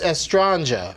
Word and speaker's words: Estranja: But it's Estranja. That's right. Yeah. Like Estranja.